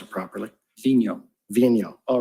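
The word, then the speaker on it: Vigneault: name we've all been debating about how to pronounce it properly Vino all right so David Vino he stated that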